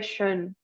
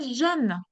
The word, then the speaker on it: jeune: Ah, jeune, Jeune. Oui. Jeune. Je. In terms of pronunciation, that's only vibrating. You're not pushing the air through your teeth, like for the sh. You just make the sound vibrating.